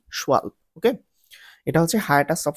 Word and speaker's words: Schwalbe: ওকে, pronunciation নিয়ে তোমরা confusion পড়িও না। এটার স্পেলিংটা হচ্ছে SCHWALBE, শোয়ালব।